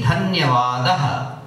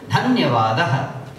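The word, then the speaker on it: धन्यवादः: Dhanyavad in singular will be dhanyavadah. We'll say dhanyavadah. Hindi form is dhanyavad, Sanskrit form dhanyavadah.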